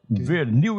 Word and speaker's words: Vernil: No meu nome, a pronúncia na família era Vernil. Vernil. Seria o correto aqui. Seria, digamos assim, um sotaque bem francês. Francesado.